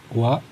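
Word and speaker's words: は: Di sini kita lihat yang pertama, watashi wa Haryanto des. Des. Jadi ini h ya. Ini partikel wa ditunjukkan dengan huruf h. Jadi bukan dibacanya h tapi dibacanya wa.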